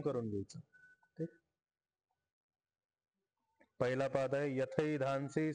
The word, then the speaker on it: यथैधांसि: घ्यायचं पहिला पाद आहे यथे धानसी समित् यथैधानसी ऐकार उच्चारण करा यथ धानसी समिद्धो अग्निर